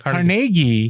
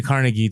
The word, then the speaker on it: Carnegie: by uh dale carnegie is that how you say it it's carnegie carnegie but it's you can say carnegie too okay yeah well whatever